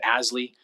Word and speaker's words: ASLI: living initiative or asli we use the acronym pronounce it asly to to build more